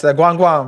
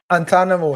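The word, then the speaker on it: Guantánamo: But that's Guam Guam, man. What does it rhyme with hey? It rhymes with, yeah, it rhymes with Antanamo. Hey, Does it so rhyme with you Guantanamera?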